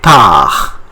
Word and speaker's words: tard: The word late in French is called tard. Tard. We don't pronounce once again D. We just say tard.